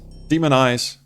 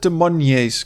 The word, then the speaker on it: Des Moines: Demon Eyes. Oh, is it Demon Eyes? I always said Demonies because it's spelled.